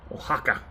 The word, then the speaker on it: Oaxaca: Oaxaca. That's how you pronounce that.